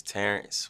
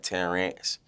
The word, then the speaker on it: Terrence: pronounce your name uh the correct way to pronounce my name is Terrence Jr short for short for or that's what that's short for yeah do people mispronounce this uh they mainly like put a a instead of the E like they be putting the a instead of the E so they be like 10 rants but other it don't